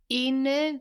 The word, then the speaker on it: une: Une gare. Good, it's U-N-E, but the E is mostly just letting us know to pronounce that N, no?